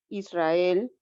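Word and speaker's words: Israël: la parte donde dice Israel como tiene esas diéresis la e arriba verdad tiene esa diéresis por eso no se pronuncia como el diptongo exactamente Exactamente no está pegado Aquí sí Y aparte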